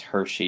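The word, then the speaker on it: Hirschi: control system and Travis Hershey in the late 60s early 70s and yes that is how to pronounce his name is Hershey even though it's spelled differently than the chocolates but he developed Hershey developed the social bond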